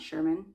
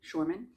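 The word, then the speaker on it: Shormann: And so I have looked up, I think it's pronounced Shorman math, not Sherman, Shorman.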